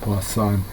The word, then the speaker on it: Poisson: It's spelled like poison, but it's pronounced Poisson.